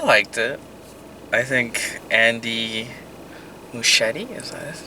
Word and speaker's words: Muschietti: I think Andy Muschietti, is that his name? Yeah, I think so. It rhymes with Steve Buscemi, something like that.